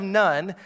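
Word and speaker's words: Nain: and then there's a city of nun is actually how you pronounce it and he actually goes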